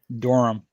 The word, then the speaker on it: Durham: oh is it and just how do you pronounce doram yeah so if you uh so oh what's